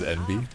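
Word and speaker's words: enby: Uh the the term that I heard about that I really like is envy. Uh you spell it E N B Y but you pronounce it like the letters NB and I think it's really cute.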